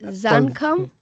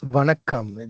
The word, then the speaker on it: Vanakam: Is it Zankam? It's Vanakam.